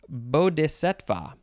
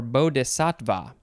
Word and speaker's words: bodhisattva: i say it correctly bo de setva or bo desatva it is a sanskrit word i'm just gonna say